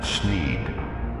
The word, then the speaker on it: Sneed: sneed's Feed and Seed where Feed and Seed both end in the sound Eid thus rhyming with the name of the owner Snead the sign says that